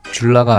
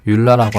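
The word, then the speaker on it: JOOLA: 재밌는 일화를 말씀드리자면 우리나라 국가대표 탁구 선수였던 김정우 선수가 현재 줄라 브랜드의 공식 총판을 담당하고 있는데 원래 브랜드 발음은 줄라가 아닌 율라라고 합니다.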